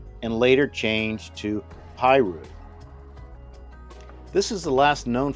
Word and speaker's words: Piru: Originally pronounced pirou and later changed to pyu.